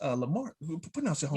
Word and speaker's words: Lamar: of um is it is it pronounced uh lamar who put out your home yeah yeah yeah yeah yeah yeah yeah it's lamar texas man it's um like 25 miles right